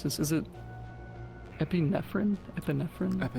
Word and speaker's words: epinephrine: in the Okay, I've always struggled to pronounce this. Is it epinephrine? Epinephrine.